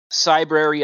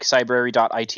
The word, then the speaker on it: Cybrary: where's the security 101 cybrary it like cybrary.it is uh an online learning platform can you spell that yes like it's like library but it's like cyber Cy b r a